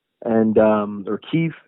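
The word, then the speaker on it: Kyiv: canif uh sorry of kiev and um or kiev is how the ukrainians pronounce it it's it's a really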